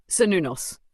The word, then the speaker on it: Cernunnos: Cernunnos, pronounced Cernunnos, is one of the oldest and most mysterious gods of the Celtic world.